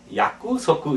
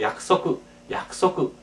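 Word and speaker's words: 約束: 그러나 그때 끄는 거의 초음화돼서 약구 석구 이렇게 하지 않고 약속구 우리 거의 우리말에 약속처럼 이렇게 약속 이렇게 발음해 주시기 바랍니다. 약속구 약구 석구가 아니라 약속구.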